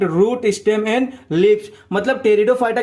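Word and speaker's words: Pteridophyta: अगला वाला देखो, जो हमारा एक आखिरी डिवीजन है, ठीक है, उसका नाम होता है टेरिडोफाइटा। यहां पर पी साइलेंट होता है, ठीक है।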